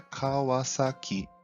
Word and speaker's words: Kawasaki: Portanto, o nome correto da empresa é Kawasaki.